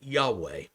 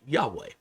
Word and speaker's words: Yahweh: We pronounce today, most people pronounce it Yahweh, Yahweh. But we are really not certain that is the pronunciation.